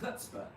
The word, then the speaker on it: chutzpah: I guess it's pronounced chutzpah. The C is silent.